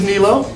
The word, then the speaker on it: Nilo: me anyway right okay great my name is nilo and uh if you don't know how to pronounce my name i've got a visual for